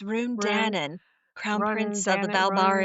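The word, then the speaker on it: Ruhn Danaan: Run how do you say his name it's Run Danon crown prince of the Balbar in yeah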